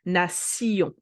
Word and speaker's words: nation: know the words and they want to pronounce it like in English, but no, it is définition, nation. Et finalement, and finally, we